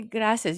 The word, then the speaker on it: gracias: And now let's hear you say gracias. You have to roll the R.